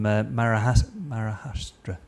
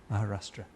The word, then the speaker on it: Maharashtra: deceased examples was from marah marra mispronounced that I Maharashtra Maharashtra um the jamad project